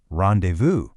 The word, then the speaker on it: rendezvous: The pronunciation is rendezvous.